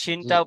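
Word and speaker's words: شين: শিনটা পার্থক্য করতে হবে। এটা হলো সিন আর এটা শিন। এই অক্ষরটি কি হলো? শিন। শিনটা মোটা করে উচ্চারণ করেন।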